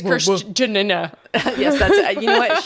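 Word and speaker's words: Kristjana: give me a pronunciation Christiana Chris k r i s t j a n a Christiana Chris yeah sure Christiana we love you so much thank you I think it's CHR Jan yes that's you know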